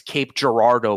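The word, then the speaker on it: Cape Girardeau: uh City in St in Missouri that's that's Cape Gerardo by the way uh that's how it's pronounced uh it's we I'm from St Louis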